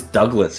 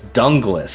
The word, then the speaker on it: Dunglas: dunglas Hume and like I thought it was Douglas for a long time but no it's dunglas is this the elongation